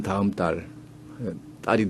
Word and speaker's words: 다음 달: 근데 북한에서는 그냥 눈송이라고 발음을 하고 다음 달 이것도 서울 중심한 남쪽 말에서는 다음 딸이 되죠. 근데 북에서는 다음 달 이렇게 됩니다. 예사소리로 납니다.